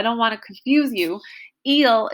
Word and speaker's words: il: want to confuse you eel is is spelled i l all right um and